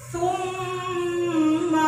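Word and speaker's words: ثُمَّ: Bacanya juga harus summa radadnahu. Summa ditekan, jadi 2 harakat.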